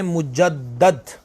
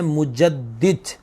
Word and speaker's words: مجدد: مجدد، ایک تو بعض لوگ یہ لفظ پڑھتے ہیں مجدد، یہ بالکل درست تلفظ نہیں ہے، صحیح نہیں ہے. لفظ ہے مجدد.